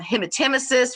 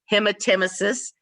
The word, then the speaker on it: hematemesis: hematuria they could have hemotemesis which is the correct way to pronounce vomiting blood hematemesis they could have epistaxis